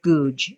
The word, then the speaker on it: Goudge: And her name is Elizabeth Goudge, Goudge. Elizabeth Goudge. They pronounce it Goose in England, but she is a British author that has been dead, I think, since the 60s.